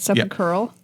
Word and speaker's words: sepulchral: Because it's sepulcher, singular, so sepulchral.